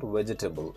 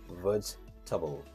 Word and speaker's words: vegetable: it's table vegetable it's vegetable but generally people pronounce it Incorrect and they say vegetable it's not vegetable it's vegetable the next word we have is variety veriy